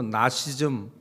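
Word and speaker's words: Gnosticism: 근호 시점이라고 얘기 라고 영어로 읽으면 앞에 있는지 발음이 묵음 이 돼서 나씨 즘 이렇게 말하는 설이 있습니다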